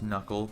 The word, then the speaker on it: Knuckle: Yes, I know it's pronounced Knuckle, but Knuckly is funnier.